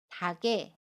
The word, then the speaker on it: 닭에: 마찬가지로 닭의 받침 기역과 모음 애가 만납니다. 그러면 어떻게 발음하죠? 받침 기역이 이응 자리로 이동을 해서 닭에 라고 발음합니다. 연음이에요.